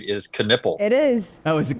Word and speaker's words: Knueppel: Knueppel.